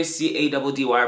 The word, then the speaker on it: Caddy: This is Fresh and Park with your boy C-A-D-D-Y, pronounced Caddy, where you get all the fresh air that you need.